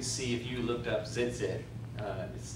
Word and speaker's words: tzitzit: you looked up tzitzit, it's got a T on the very front of it, and then a Z, so it's kind of like, don't try to spell it zit, zit, tzitzit, zit. Anyway, I don't know if the T is silent, but today you could